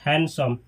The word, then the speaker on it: handsome: ये जो लिखा है इसमें डी को नहीं पढ़ा जाता है, डी को नहीं बोला जाता है। डी का प्रोनाउंसिएशन नहीं किया जाता है, डी को स्किप कर दिया जाता है, इसको पढ़ा जाता है हैंडसम।